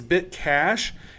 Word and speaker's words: BitCache: And he said it's Bitcash, and that's spelled BitCache. So cash as in not cash money, but like to cache files, you know.